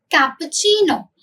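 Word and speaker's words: cappuccino: कैसे प्रोनाउंस करोगे? Latte, got इट। आगे आते हैं कैपुचिनो। कैपुचिनो, repeat after me, कैपुचिनो।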